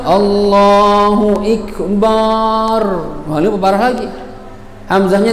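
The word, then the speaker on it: أكبر: Allahu Akbar, akbar, nggak ada artinya akbar, salah. Akbar bukan akbar, paham ya? Nah, biar lebih mantap gitu Ustaz, akbar, nggak bisa, nggak ada mantep-mantepan di sini, salah.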